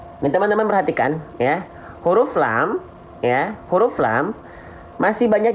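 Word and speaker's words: لام: Banyak orang melafalkan lam itu masih serupa dengan huruf L pada abjad alfabet. Nah, ini tidak betul-betul serupa sebenarnya ya. Kalau huruf L alfabet itu kalau kita lafalkan hanya menyentuhkan ujung sisi lidahnya saja.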